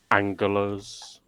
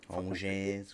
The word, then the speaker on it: Angers: Auxerre, Montpellier, Saint Etienne, Angulers, whatever that. Angers, what it's pronounced.